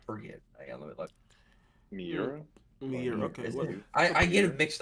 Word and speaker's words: Miura: I don't know how to pronounce it. Kentaro Miura. I forget. Let me look. Miura? Miura, okay.